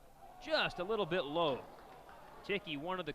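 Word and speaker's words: Thicke: a little bit low ticky one of the call it's spelled a little bit different than you would think t-h-i-c-k-e i asked the coach i said thick he said no ticking he works out of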